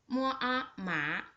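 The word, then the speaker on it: 麻: Mom it means mother the second one with a second to pronunciation is just like this ma ma this is a character for MA it means hemp the third one with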